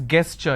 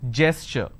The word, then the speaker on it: gesture: A lot of people pronounce this as gesture. It's not gesture just because the letter G is there. It is gesture.